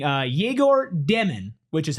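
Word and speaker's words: Egor Demin: We have uh Brent in the chat saying uh Jaigor Demon, which is how you pronounce his name. It's not Igor Demon, which I wish it was.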